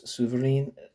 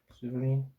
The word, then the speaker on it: Souvarine: It's titled Trotsky and Boris Souvarine Debate, the Soviet Union and the Communist Movement.